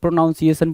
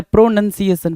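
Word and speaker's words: pronunciation: अब देखो ये क्यों देता है प्रोनाउंसिएशन वाला, क्यों देता है, क्योंकि हर बच्चा ये बोलता है प्रोनाउंसिएशन प्रोनाउंसिएशन। मैंने कितनी बार बताया प्रोनंसिएशन, प्रोनंसिएशन, नन है ना, NUN है ना कि NOUN है।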